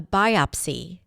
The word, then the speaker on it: biopsy: The doctor ordered a biopsy to determine whether the tumor was cancerous. So, biopsy is another important word to know. The stress is on the first syllable. Biopsy. Biopsy.